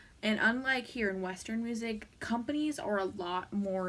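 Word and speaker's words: Muzik: and I'm pretty sure the way he pronounce the album is music it's m u z i k oh this this was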